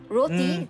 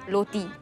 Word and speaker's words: roti: pronounce certain letters so r is always pronounced by them as l roti therefore becomes loti yeah cream buns clean